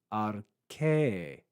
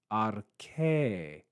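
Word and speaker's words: ἀρχῇ: You also see a mark underneath that vowel, which is the iota subscript, which means that there was a iota at the end of this word that's not pronounced, but it was recorded as a subscript just to mark its presence and not interfere with pronunciation. So we have arche. Notice that circumflex accent, arche, en arche.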